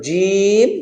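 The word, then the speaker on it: ج: ওকে তো শুরুতে চলেন জিমের মাখরাজ হলো জিম যার উচ্চারণ হলো যা জিম জবর যা বলা যাবে না বলা যাবে না যা না জা জিম জের জিম পেশ জু জা জি জু একইভাবে জাল যেটা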